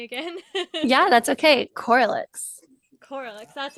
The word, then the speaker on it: Corlyx: Corlyx, that's right.